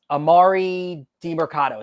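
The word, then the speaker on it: Demercado: do you spell the uh say that it's Amari de Marcado is how you say it he they played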